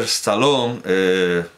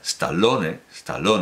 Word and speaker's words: Stallone: Ya Sylvester Stallone... ¿Por qué lo pronuncio a la inglesa? Stallone, ya Sylvester Stallone en